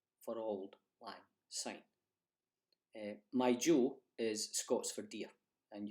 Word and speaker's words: jo: for auld lang syne is not as my joy that is the proper word to use for